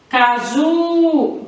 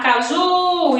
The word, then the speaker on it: caju: Quando a sílaba mais forte for a última, caju, como é que eu sei isso? Chamando. Como se fosse eu estivesse chamando uma pessoa. Quando eu chamo uma pessoa, essa sílaba que demora mais eu chamando, então ela vai ser a sílaba tônica. Se eu chamar caju, então a sílaba que demora mais, o ju. Qual é a sílaba tônica? Ju.